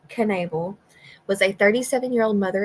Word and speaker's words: Knable: me expand this here Andrea Michelle Canal pronounced Canal was a 37y old